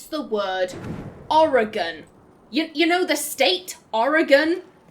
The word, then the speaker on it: Oregon: That is like, you pronounce every component Oregon. Like, everything is pronounced, but not origin.